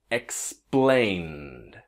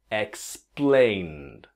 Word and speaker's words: explained: If you can imagine that the E just disappears, right? Try with me. Explained. Explained.